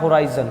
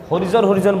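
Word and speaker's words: horizon: इसका उस सही उच्चारण होता है होराइजन, ठीक है, होराइजन, होराइजन। अब बहुत सारे लोग इसको होरिजन बोलते हैं, तो ये होरिजन नहीं है।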